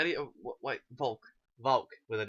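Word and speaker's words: Wolke: Volk.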